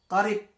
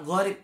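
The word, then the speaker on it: قريب: Maka yang berdekatan ini disebut dengan mutaqaribain atau qarib. Ya, bukan gharib.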